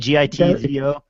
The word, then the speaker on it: Gitzo: Or, I never pronounce that right. Is it Gitzo? Is that how you say it? Gitzo. Yeah, Gitzo works.